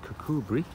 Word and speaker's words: Kirkcudbright: So we are in Kirkcudbright, which is spelled Kirkcudbright, but Kirkcudbright.